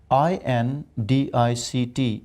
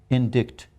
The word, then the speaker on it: indict: And one interesting word, INDICT. If you ask any Pakistani, he would say indict, but the word is indict.